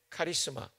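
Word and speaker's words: χάρισμα: 발음교를 써드리면 이렇게 돼요. 카리스마.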